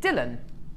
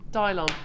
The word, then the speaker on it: Dylon: Um, is it Dylan as in Bob? Dylon. Dylon. Oh, I thought it was Dylan. So, Dylon.